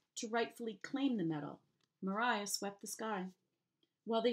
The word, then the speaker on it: Maria: of the metal with Mariah's name written out the way you're supposed to pronounce it again Mariah I've seen